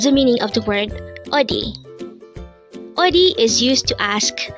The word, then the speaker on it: 어디: 84 o o this is pronounced as a two syllable word the first syllable is o second syo is D pronounce it with me